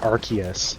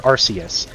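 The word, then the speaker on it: Arceus: arus because but then someone gave me a great argument for why it shouldn't be pronounced archus or arus and that's because of legends archus where they give you the ark phone because Pokemon isn't going to give you the ars phone and I was like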